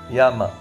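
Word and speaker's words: 山: in the language yama spelt y e m a and pronounced yama and what do the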